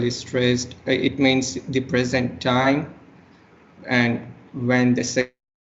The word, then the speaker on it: present: as of now etc when we have present right it will be a verb right where the like you know the stress is on the second syllable and it will be